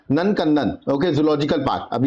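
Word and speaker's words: नंदनकानन: इसका प्रोनाउंसिएशन होगा नंदकंदन।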